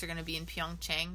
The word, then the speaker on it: Pyeongchang: going to be in Pyeongchang, not Pyongyang, Pyeongchang. Pyeongchang is in South Korea. Pyongyang is the capital of North Korea. Yeah, like just one syllable.